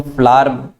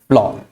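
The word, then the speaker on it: flour: इसको हम फ्लावर, कई जगह फ्लावर भी इसको प्रोनाउंस किया जाता है, जनरली इंडिया में ही प्रोनाउंस किया जाता है, लेकिन इसकी एक्चुअल जो प्रोनाउंसिएशन है वो है फ्लोर, राइट।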